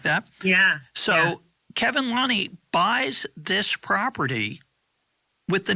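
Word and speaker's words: Lunny: key player which is Kevin how do you pronounce his name Lonnie Lonnie so the Lonnie's own this farm they renamed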